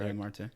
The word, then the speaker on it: Isaiah Marte: Today I have Isaiah Marte. Did I pronounce it right? Yep, correct. Isaiah Marte. It's been pronounced different ways, like Marte would be the technical.